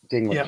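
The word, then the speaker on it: Peter Dinklage: about about betrayal of I'm going to pronounce Peter's name his last name wrong but his last name is Peter dinkledge d i n k l dingl he's an American actor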